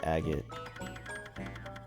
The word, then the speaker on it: agate: I'm pretty sure it's just agate.